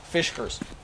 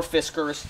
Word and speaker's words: Fiskars: weigh six pounds the way they come from fish person or Fiskars depending on how you want to pronounce the name the other things I like